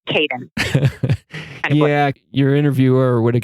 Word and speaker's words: Kapin: In Turkish, it's pronounced Kapin, but I didn't think that we would be able to push that, so it's Kapin.